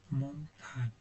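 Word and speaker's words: Montag: Bu da ona çok benziyor ama burada montan diye okunuyor. Bu aslında pazartesi demek. Pazartesi görüşürüz demek. Eee, montak pazartesi demek.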